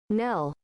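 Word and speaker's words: knell: It's not Neil. It's Nell. Nell.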